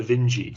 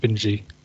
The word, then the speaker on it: Vinge: Vinge, but I've heard a lot of people saying Werner Vinge, so that's where I'm going with it. I had the same experience. It's through watching YouTube videos that I picked up. Oh, they pronounce his name or her name Vinge.